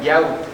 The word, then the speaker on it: Yahweh: nuestro Creador, que es el de las 4 letras, el Yud, Kei, Bat, Hei, que se pronuncia Yahweh.